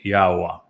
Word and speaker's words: Yahwa: And the verb haya explains how to pronounce the he and the yod.